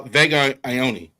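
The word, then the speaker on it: Vega Ioane: Uh Vega Ioni.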